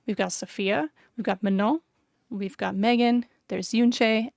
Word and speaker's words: Manon: Her name is not Manon. It's not Manu. It's not Manon. It's Manon. Manon. It's not hard to say her name properly.